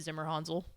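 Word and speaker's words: Zimmerhansel: isn't it Zimmer hanel is that how you say it it's Zimmer hanzel yeah I like that yeah it's a I figured it was it was probably not a hard a yeah yeah I like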